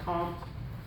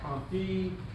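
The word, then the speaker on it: Comte: So we start with the first theorist Augustus comp pronounced comp not comp live and and I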